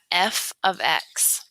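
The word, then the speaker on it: f(x): so function notation looks like this and we pronounce that f of X so the reason for function notation it helps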